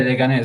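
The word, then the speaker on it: Leganés: this team, but I don't know how to pronounce it. Is it Leganes CD? Yeah, Leganes, yeah.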